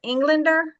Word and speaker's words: Englander: Englander. Yeah, Englander.